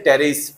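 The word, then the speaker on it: Pteris: বলতে পারবে না তাহলে এখানে কার জায়গা না পি এর জায়গা না তাহলে সে পিথা বলতে পারবে না ঠিক আছে এটা হচ্ছে টেরিস ওকে তাহলে আমরা টেরিস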